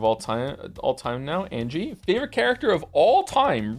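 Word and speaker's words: Ange: time all time now Angie favorite character of all time really I'm here to tell you her name is pronounced en Ena feel free to ignore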